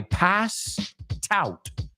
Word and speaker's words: passed out: La T de passed se une con el out. I passed out.